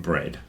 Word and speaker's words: bred: Bread, and it sounds the same as bread that you eat, but it's spelt without an A.